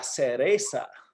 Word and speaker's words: cereza: Ah, la cereza. Es la cereza. S-E-R. C-E-R. It's just like cerveza, beer, but without the V.